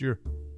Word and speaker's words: Eure: form the TV family his last name is pronounced your he frequently appears on